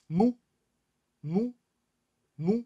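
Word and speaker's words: مُو: 合口符表示 meme 发长音合口的 u，读成 mu mu mu 啊。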